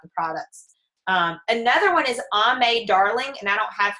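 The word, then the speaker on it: Aimee: Another one is Ame Darling, and I don't have her on this list, but it's spelled A-I-M-E-E.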